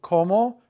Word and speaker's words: cómo: ¿Cómo? Interrogative, accent on the first O.